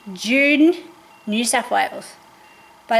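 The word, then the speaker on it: Junee: It's in June, New South Wales, but it's spelled J U N E.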